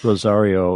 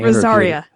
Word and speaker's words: Rosaria: I'm pausing because I never can pronounce her name proper. Rosario. And when I Rosaria. Oh, see, there you go. It was so embarrassing when I was doing the interview because I kept getting it wrong.